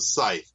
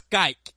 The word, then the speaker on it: scythe: No, it's a scythe. Oh, scythe. It's not a voiceover IP tool. That's Skype. Oh, whatever. That's Skype. I call it Sky. Scythe. Scythe. I think because of YTHE.